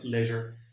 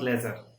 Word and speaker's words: leisure: unit is leisure leisure the pronunciation of this word is leisure leisure not lesser or lesser it's leisure it's something hollow inside when you pronounce this word there is created one kind of hollow on um one kind of year is produced inside your mouth leisure lay measure okay what's the meaning